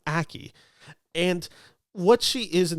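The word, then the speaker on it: Ackie: but it is Naomi Aki she plays the character of Nasha I think I've mispronounced that the last name it's akie and what she is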